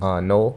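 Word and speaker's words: Knoel: I keep saying K. Yeah, His yeah. name starts with a K. I keep having the K, but it's Noel. Yeah, Yeah. the K is silent.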